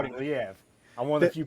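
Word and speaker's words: Liev: But Lev Shriber doing the narration again. Is that right? He is. Yes. Lev.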